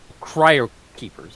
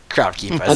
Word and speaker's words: Cryo Keepers: He just Cryo keepers. Okay, Yes. so the way you may have pronounced it was like crowd. Cryo. keepers. Crowd keepers.